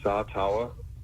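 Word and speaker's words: Sataoa: okay wait say that one more time yeah satawa SATA lamea how many times have you been asked to pronounce that over the years uh shoot yeah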